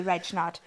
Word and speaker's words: Regnart: know jess i obviously reg knot it's not red no it's not red